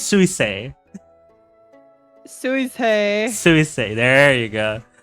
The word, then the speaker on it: Suisei: Sume. Who is Sume? There's no Sume in Hololive. Am I getting your name wrong? I think it's Suisei.